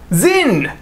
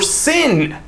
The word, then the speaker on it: Sinn: Starting with Zinn or Sinn. I don't care how you pronounce it, S-I-N-N. I'm just gonna go ahead and say sign because people will get upset regardless of how I choose to pronounce it.